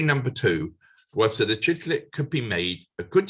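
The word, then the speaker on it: chicle: with him into exile an enormous lump of chicklet that is uh my pronunciation is sometimes terrible but that is c-h-i-c-l-e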